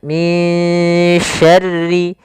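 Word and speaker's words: مِن شَرِّ: Maka suara nun di sini kita samarkan kepada huruf shin. Maka min dengan tipis sinnya, min syarri ma khalaq.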